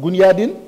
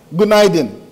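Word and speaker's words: Günaydın: It's pronounced marhaba. You can say salam or gunyadin. Is that how you say it? No. How do you say it? Gunaydin.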